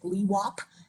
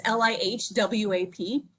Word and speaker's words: LIHWAP: They put in about $1.4 billion nationwide into, I can't really pronounce the acronym, but I'm going to tell you it's like LIHWAP. It's LIHWAP.